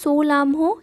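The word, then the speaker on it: Tso Lhamo: Next highest lake in India, সেটা হচ্ছে সোলামহো, এখানে টিটা সাইলেন্ট বা চোলামু লেক, যেটা সিকিমে রয়েছে।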